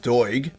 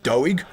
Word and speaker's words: Doig: name as well because it's pronounced Doig, but a lot of people will say Doig or Dog or something like that.